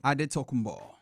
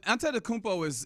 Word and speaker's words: Antetokounmpo: He says Giannis Antetokounmpo. Antetokounmpo. I said it wrong again. Well, Antetokounmpo is how a lot of people would say it, based off of the Greek spelling.